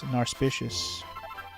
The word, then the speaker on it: Narspicious: My favorite thing to collect, Narspicious. It rhymes with auspicious, Narspicious.